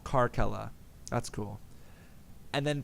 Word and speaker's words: Carcella: take out a syllable karke Ella that's cool and then people kept pronouncing it car Sela including myself I apologize yeah you it's not car sella like it's almost like